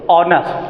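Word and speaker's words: honest: क्या हो जाता है, यच जो है क्या हो जाता है, यच यहाँ साइलेंट हो जाता है, इसका प्रोनाउंसिएशन ओ से निकलता, ऑनेस्ट।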